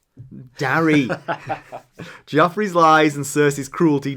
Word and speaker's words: Darry: How's that pronounced? Darry.